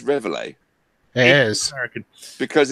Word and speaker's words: Reveille: And what the Americans call Reveille, even though it's nowhere near the pronunciation, but there we go. Reveille. Or Reveille, because it's French. It's the bugle call. It's Reveille. Yeah, but it's a French. It comes from the French word. Yeah, but it's French. I believe the appropriate pronunciation is Reveille.